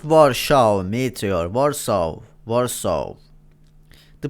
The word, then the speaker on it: Warsaw: Warso. Warso. The pronunciation so important because please be careful, man.